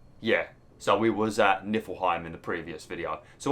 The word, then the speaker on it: Niflheim: Just because I might be pronouncing it right. It might be Niflheim. What is it? Niflheim?